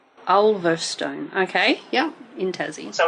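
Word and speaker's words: Ulverstone: um near laon in Tasmania how do you spell that u l v e r s t o n e olstone okay yeah in tzy so we went to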